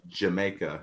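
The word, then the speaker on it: D'yer Mak'er: Dire Maker. Pronounced Jamaica.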